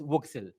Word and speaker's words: WGSL: The big change is that WebGL uses GLSL and WebGPU uses a new shader language called WGSL, pronounced Voxel.